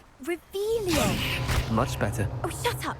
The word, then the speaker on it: Revelio: Revelius. You're saying it wrong. Ugh, Revelio.